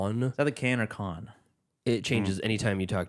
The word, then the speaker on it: Cannes: the place, much like Cannes movie premieres tend to be. That's how it's pronounced. I thought it was Canes. Nope.